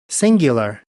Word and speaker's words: singular: बोलें, सिंगुलर, सिंगुलर, सिंगुलर, सिंगुलर ये गलत है, सिंगू, सिंगू नहीं, सिंग्यू, सिंग्यू, सिंगुलर, सिंगुलर, सिंगुलर। 3 सिलेबल्स हैं, फर्स्ट पे स्ट्रेस है, singular, singular, singular, उसके बाद